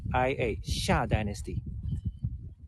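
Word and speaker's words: Xia: i a sha Dynasty uh not really z i a but it makes sense in an English uh phonetic tradition it makes sense I think when you pronounce it it's more like a z i Asia but in Chinese pinging it's spelled as a x i a it's the the first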